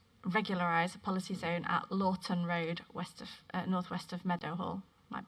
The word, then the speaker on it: Laughton: It's at Lawton, spelled Laughton Road. That might not be how you say it.